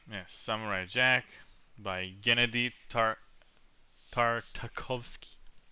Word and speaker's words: Tartakovsky: Yes, Samurai Jack by Gennady Tartakovsky. Tartakovsky, if they want to say it like a Russian.